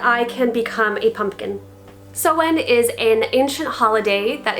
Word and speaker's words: Samhain: today i am going to be talking about sewen and yes it is pronounced so in not samhein which is a mistake that i also made